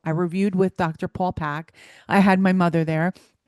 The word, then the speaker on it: Paik: His last name is spelled Paik, Pack. Okay.